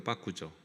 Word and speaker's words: 빠꾸: 아, 저는 이것은 있는 그대로 그냥 이게 원래 일본 말인가 보다라고 생각을 했는데 이것도 알고 보니까 영어의 백 백을 이제 일본식으로 발음한게 빠꾸였습니다.